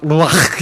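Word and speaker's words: רוח: 루아흐 아이 어린이집 하면 이상하니까 루하이 어린이집 이렇게 했는데, 정확하면 루아흐 이렇게 발음해야 된다.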